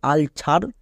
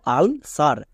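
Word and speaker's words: ulcer: ওয়াই থাকলে দন্তস হই, সি এর পরে ই আছে তাই এখানে দন্তস হলো, এখানে সি এর জন্য কো হলো না। এর উচ্চারণটা কি দাঁড়ালো? আলসার। একে অনেকে ভুল করে উচ্চারণ করে আলছার বা আলকার, কিন্তু এর উচ্চারণ দাঁড়াবে আলসার।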